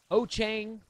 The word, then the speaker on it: Wouxun: Ochang, or as Richard Lenore likes to say, Wouxun.